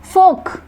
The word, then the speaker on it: folk: जैसे इसको हम प्रोनाउंस करेंगे ऑटम, बट लिखते क्या है AUTUMN, यहाँ पर N साइलेंट रहता है। नेक्स्ट इज फोक, पढ़ते फोक ही है बट लिखते क्या है FOLK फोक, इसमें L लेटर साइलेंट होता है।